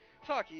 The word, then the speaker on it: Saki: Saki is how you pronounce her name.